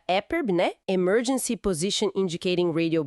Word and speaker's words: EPIRB: Temos as balizas mais conhecidas, a EPIRB, que a gente pronuncia EPIRB, né?